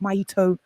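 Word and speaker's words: Maa'itu: Well, Maito, it's pronounced Maito, and a lot of you who are listening from Kenya will understand it. It's from my mother tongue, and it means mother. It's what we call our mother, Maito. The word is spelled M-A-A and then apostrophe and then I, like the show, I-T-U.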